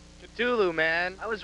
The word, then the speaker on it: Cthulhu: The exact pronunciation. Cthulhu, man.